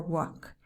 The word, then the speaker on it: walk: in could pam or walk it's difficult because you see the l and you want to pronounce it but no it's not there at all okay another one that